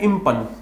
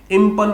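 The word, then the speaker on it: impugn: देखो यहाँ पे जो जी है ना ये साइलेंट है और ये वर्ब है, ध्यान रखना। ये एक कार्य करना है, एक्शन करना है, इम्पन बोलते हैं, इम्पन, इम्पन, ठीक है। जी साइलेंट है।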